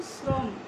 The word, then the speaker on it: শ্রম: এখন বলছি যে আদ্য অয়ের সঙ্গেই যদি রফলা যুক্ত থাকে, যেমন শ্রম, স্রষ্টা, এরকম, এটা কিন্তু শব্দের শুরুতেই রফলাটি যুক্ত রয়েছে। এই শব্দের শুরুতে রফলা যুক্ত থাকলে সেই অয়ের উচ্চারণ ও এর মতো হবে।